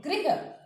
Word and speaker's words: गृह: तो देखिए हमारा शब्द है ग्रह, दूसरा शब्द हमारा क्या है गृह। ग्रह और गृह, ग्रह में क्या है र आ रहा है और गृह में हमारा क्या आ रहा है री आ रहा है।